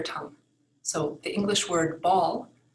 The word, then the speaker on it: Ball: So the English word ball, spelled the same in German, is pronounced Ball. Ball.